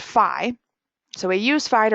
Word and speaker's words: Phi: a line through it it's a Greek letter pronounced Phi so we use Phi to represent the golden